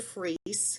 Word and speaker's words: Fries: My name is Fries. It looks like French fries, but it's pronounced in the Germanic way.